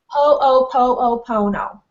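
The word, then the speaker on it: Hoʻoponopono: Or and I always mispronounce it, the Hanos, pronounce it for me again. Ho'oponopono.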